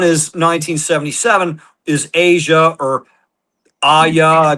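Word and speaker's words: Aja: So, so the next one is 1977 is Asia or Aya. They pronounce it Asia. It's spelled AJ A.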